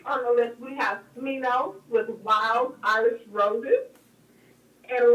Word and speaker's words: Smino: Wild Irish Roses by, what you say his name is? Semino? Smino. So why you got that S on? Listen, artists are creative. I can't. Just stop. We're taking the creativity too far. Got silent S's, silent 6's.